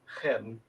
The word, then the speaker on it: Khelm: Khelm, Khelm. Is it pronounced Khelm? Yeah, KH is H. Got it. I understood. I got my Ukrainian lessons quick. Just drop the Russian. K and it's a hard H.